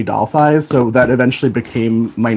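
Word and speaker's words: Dalthis: like randomly generated and it was spelled like d-a-l-t-h-i-s like delphis I think but all of my friends just called me doll thighs so that eventually became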